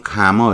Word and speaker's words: comma: 이걸 우리는 콤마 그렇지만 영어로는 가머 이렇게 발음을 해요.